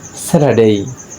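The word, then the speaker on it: Saturday: এর কারণ হচ্ছে আর এর পরে যদি কখনো কনসোনেন্ট আসে তখন সে আর এর উচ্চারণটি হয় না, আর আর এর পরে যদি কোনো ভাওয়েল আসে তখন আর এর উচ্চারণটি হয়।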